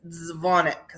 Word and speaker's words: Dzwonek: The second part is the Polish part, and that is dzwonek. So Ooh, the W is pronounced like a V.